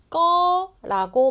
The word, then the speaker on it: 거: 쓸 때는 거라고 쓰지만 말할 때는 거라고 말해야 한국 사람이 말하는 것처럼 들려요.